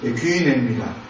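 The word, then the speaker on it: γύναι: 나오는 여자여 할 때 그 이 발음이 귀인애입니다.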